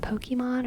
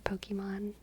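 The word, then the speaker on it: Pokémon: and spirals with your Pokemon I do yeah I love Queen Gambit I love Anya Taylor Joy she's enchanting there is an accent on the Ian poke Pokemon poke Pokemon Pokemon Pokemon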